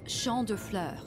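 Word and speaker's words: Champs de Fleurs: do you say that it's Shand FL it means Field of Flowers wa this is the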